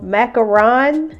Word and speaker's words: macaron: those from hobby lobby i got a macaron macaron is how you say it macaron mold construction